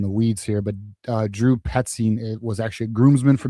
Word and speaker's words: Petzing: So regarding, and I gotta remember even how to pronounce this dude's name. And so initially, all right, personally, so yeah, it's Drew Petzing. That's what it is. Petzing.